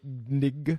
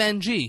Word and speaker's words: Ng: There's no fucking vowels in that woman's last name. That's how do you say it? NG. I've never attempted to say it. Nig. Kim NG. Hey. I know. You can't say that. There's no I in it. There's no I. You're creating a vowel.